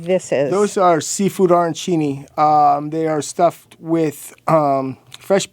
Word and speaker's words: arancini: I've never had how do you say arancini?